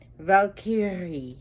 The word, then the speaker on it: Valkyrie: And her mother was a Valkyrie. Valkyrie, actually, if you want to roll those R's.